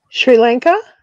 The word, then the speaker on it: Sri Lanka: like Indonesia and um s Lanka or something Sri Lanka no it say s r i Lanka yeah Sri Lanka oh okay it's pronounced it's like the West the the Indies